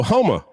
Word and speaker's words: Houma: Oh, Houma. H-O-U-M-A. Oh, Houma. Okay. Puma is actually how they say it. Okay. That's how the Cajuns say it, Puma.